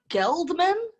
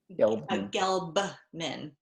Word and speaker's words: Gelbman: Say her name again. Tree Geldman. Geldman? Gelbman. Gelbman.